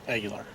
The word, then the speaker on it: Aguilar: How do you say your last name? Aguilar.